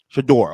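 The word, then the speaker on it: Shedeur: How do you pronounce his name, Ken? Shador.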